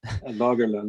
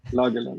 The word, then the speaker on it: Lagerlund: Have I pronounced that correctly? Lagerlund, yeah, it's okay. Lagerlund, it's fine.